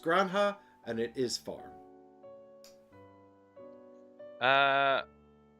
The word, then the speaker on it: Granja: in spain excellent nice it's pronounced granha and it is farm